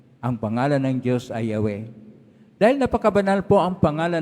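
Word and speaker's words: Yahweh: he w he wala pong consonans paano ba bigkasin ang pangalan po ng diyos ay yahw yung iba na hindi marunong magbasa ng titik na mga hebreo ay iba po Ang kanilang kailangang pagbasa nagiginghova.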